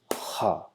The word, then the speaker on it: خ: letter combination, so whenever we try to combine KH sound, Kh, Kh, Kh, but in English it's a little bit without any stress, like K, K, K. Kha. But in Arabic, we have to pronounce this from the lowest end of our throat, the lowest end.